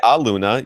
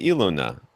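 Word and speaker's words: Elune: I don't I say Aluna Vision, but um there's no A. But there's an E. Aluna. There's You don't say Aluna. You say illuna.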